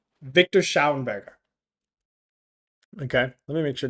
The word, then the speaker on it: Schauberger: So there's this guy called Victor Schauenberger. Okay, let me make sure to get Victor. Yeah, perfect. Good. Making sure I pronounce his name properly. So Victor Schauberger.